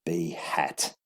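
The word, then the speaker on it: b̂: get a unit vector b hat that's pronounced b b-hat okay that's b-hat all right that's it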